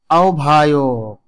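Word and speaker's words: আহ্বায়ক: দেখুন আওভান উচ্চারণ হচ্ছে আওভান তারপরে রয়েছে আওভায়ক গভর এখানে দেখুন বিউভল এবং জিউভা বিউভল এবং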